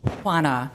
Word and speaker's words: Juana: of nervousness I have an unusual name it's Juana J UA na a it's very hard to pronounce Juana uh it's a tough name and